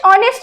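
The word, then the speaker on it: honest: যে এইচ এর উচ্চারণ যদি সাইলেন্ট থাকে তাহলে তার আগেও এন বসবে। এবার আমরা নেক্সট একটা एग्जांपल দেখব, ড্যাশ অনেস্ট ম্যান।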